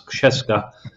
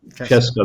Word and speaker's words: Krzeska: it has that name which of the village where it's made, which you so beautifully pronounce, Krzeska. So, Czeska. Krzeska, that's what the name.